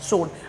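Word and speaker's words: sword: शोड। अब देखो क्या लिखा यहां? एस। सही है। लेकिन डब्लू हमारा साइलेंट हो चुका है।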